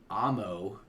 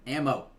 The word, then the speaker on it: Amo: were on before the Amo album. Oh, you said it right. I'm so proud of you. Yeah, before the Amo Amo? album. Oh, God. Alamo. I say it wrong because she likes it.